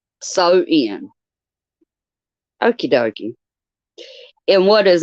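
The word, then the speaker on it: Samhain: 2 000 years ago known as Sam Hayne pronounced so in sew in okie dokie and what is now modern day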